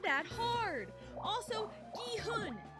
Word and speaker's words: Gi-hun: I've heard, like, 3 different pronunciations of his name in, like, the 6 videos I've watched. And, his name is Gi-hoon. Gi-hoon.